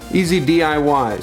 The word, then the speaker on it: EZ-DIY: they did this branded easy DIY something I spent a long time trying to figure out how to pronounce before I realized it's easy DIY anyways that note aside